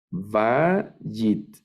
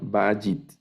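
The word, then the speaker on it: בַּיִת: ya puedo leerla es vagit el acento va en la primera sílaba vagitte esta palabra bueno eso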